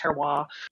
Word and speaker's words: terroir: I think it's most typically pronounced terroir.